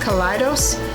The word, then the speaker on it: Kaleidos: futurism collection from ice I think it's pronounced colitis because it's spelled kind of like kaleidoscope so I think that's how they say it the shipping was wonderful